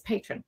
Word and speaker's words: Patreon: everybody's interested in your of course I was pronouncing it wrong, it's Patreon, right?